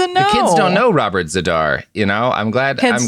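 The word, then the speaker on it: Z'Dar: descriptor of like I don't know a Robert Zadar type. I I will Robert do all the baseball references I can. Robert Zadar. Oh, no. The kids don't know Robert Zedar.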